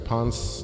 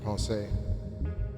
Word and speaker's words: Pensée: Ponce de Leon is spelled that way, but I think this is spelled P-E-N-S-E-E, Ponce. And I think in French it's P-E-N-S-E-R is to think. So it's like a journal of science, I believe. Ponce. Penser, to think, right? So that's the intro from Pensée.